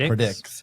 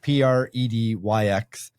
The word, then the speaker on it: Predyx: But what led me to learn about that was that there's a Bitcoin focused one called, I think it's pronounced Predyx. Yeah. Oh, yeah. Predyx.